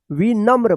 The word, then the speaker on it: विनम्र: बिंदी है तो अत्यंत विनम्र म में देखिए र पदेन है तो म के साथ आधा र का उच्चारण पूरा र होगा और आधा म का उच्चारण होगा विनम्र और सरल था परंतु